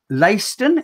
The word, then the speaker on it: Leicester: think we've got on the 24th of september layston is that how you pronounce it yeah yeah leicester yep that's correct